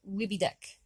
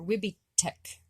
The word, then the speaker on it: Wibidek: But if you're talking about this one next to it, you would call it Wibidek. Wibidek. Or Wibidek. or Wibitek with a T, sorry.